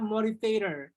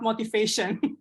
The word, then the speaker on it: Motivator: Now let's moving on to the third speaker of the night, all the way from Toastmaster Jakarta, motivator. Motivator, yeah, Toastmaster Karina, not motivation.